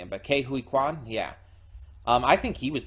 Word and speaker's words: Ke Huy Quan: I think Ke Huy Quan, I want to say. Hold on, let me go back up there. And I still might be mispronouncing him, but Ke Huy Quan, yeah.